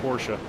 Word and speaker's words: Porsche: Well, it's like Porsche. I leave the E off of Porsche.